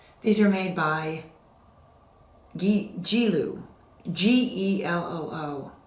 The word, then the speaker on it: Geloo: These are made by Geloo, G-E-L-O-O. I think it's either pronounced Geloo or Geloo.